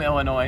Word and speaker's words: Illinois: Yeah, I always pronounces it with the S. I'm from Illinois, so that Illinois.